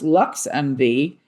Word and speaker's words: LXMV: LXMV, pronounced Lux MV, is Chicago's first ever